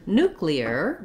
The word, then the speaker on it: nuclear: your everyday speech then looking at the word nuclear we don't have that same yellow pronunciation it in it instead in the beginning we have the letter u says the u sound so i've written it here like the word new you could also envision it